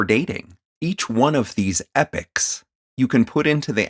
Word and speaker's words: Epoch: the first one being epic ms now epic is spelled e-p-o-c-h and it is a